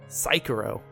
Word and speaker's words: Sekiro: Nobody pronounced that name correctly. Sekiro.